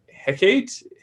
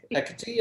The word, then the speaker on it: Hecate: My divine parent is, how do you say, Hecate? Hecate, I think.